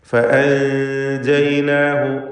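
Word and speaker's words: فأنجيناه: ഫഅൻജയ്നാഹു, സാക്കിനത്തായ നൂനും ശേഷം ജീമും ഇഖ്ഫ ഹഖീഖി നൽകി മറച്ച് മണിക്കുക. തർക്കീഖോട് കൂടിയുള്ള മണിക്കലാണ്. ഫഅൻജയ്നാഹു, അന്ത്യത്തിലുള്ള ഹ ദമീറിനെ ദീർഘിപ്പിക്കാതെയാണ് ഉച്ചരിക്കുന്നത്, കാരണം അതിനു മുമ്പിൽ അലിഫിന് സുക്കൂനുണ്ട് എന്നതുകൊണ്ടാണ്. ഫഅൻജയ്നാഹു വമൻ മഅഹു ഫിൽ ഫുൽക്, വീണ്ടും ആവർത്തിക്കുന്നു.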